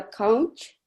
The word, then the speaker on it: conch: word would be a conch or conch. Yeah. Pronounced Conch. Yeah. Conch. Okay. Yeah. Ending with a K sound, like a king.